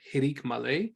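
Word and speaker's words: hiriq male: Hirik Malay, or hirik Yod, is pronounced E, as in ki.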